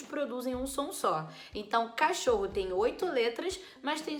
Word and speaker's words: cachorro: tem quatro fonemas também diferente por exemplo de cachorro cachorro tem c a c h o r r o Então já perdi a conta deu oito deu cachor é deu oito oito letras mas eu não vou ter oito fonemas por qu o ch juntos